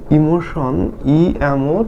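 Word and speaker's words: emotion: উচ্চারণ করব ওকে তাহলে ইমোশন টি আই ও এন তাহলে দেখো ই এর জন্য হচ্ছে হিশি এম এর জন্য ম আর ও এর জন্য হচ্ছে এইযে ওকার আর টি আইও এটার উচ্চারণ হবে সন ইমোশন ইমোশন মানে আবেগ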